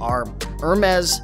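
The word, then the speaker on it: Hermès: gonna sell on eBay for more than $100 our mez ties it's spelled h e are m es excuse me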